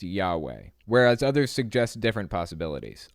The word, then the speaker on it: Yahweh: in Hebrew some feel that the name was pronounced Yahweh whereas others suggest different possibility no it was Yahweh there are Scholars Hebrew ancient Hebrew Scholars out